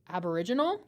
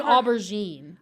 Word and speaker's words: Aboriginal: Aboriginal. Aboriginal. Thank you. I think you were almost saying aberine. I know.